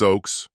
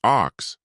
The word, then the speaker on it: Oaks: Hello, Miss Oaks," he said, getting my name wrong. "Not the first time that had happened." "Hi, sir. It's actually pronounced ox, like the tree," I corrected him politely.